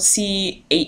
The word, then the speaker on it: Cherryh: of luck in used bookstores her last name is spelled c-h-e-r-r-y-h um just in case you're wondering um but